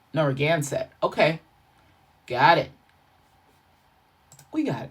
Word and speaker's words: Narragansett: Let's do the pronunciation. All right. Let's see what it says. Narragansett.